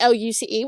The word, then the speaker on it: Luce: My main channel is TikTok, which is @_ and then footluce, spelled like a foot and then loose, like Luce, which is my name.